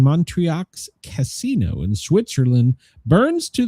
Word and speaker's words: Montreux: Yeah, they were recording the Montreux, am I pronouncing that wrong? Montreux Casino in Switzerland burns to the ground during a set by Frank Zappa.